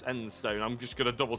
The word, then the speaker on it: Enstone: Apparently I've been saying it wrong this entire time. It's not Einstone, it's Enstone.